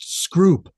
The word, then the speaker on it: Scroop: It's pronounced Scroop.